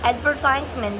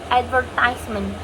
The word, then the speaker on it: advertisement: For example, the word advertisement. Advertisement. That's how American English pronounce advertisement. In British English, they pronounce advertisement. Advertisement. Advertisement. You can see the stress on the different syllable.